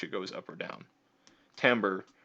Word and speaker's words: timbre: goes up or down timbre rhymes with amber distinguishes one instrument from